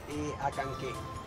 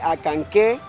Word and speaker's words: Acanceh: Muy bien, entonces pues a seguir disfrutando de este bello pueblo que es municipio Acanqué.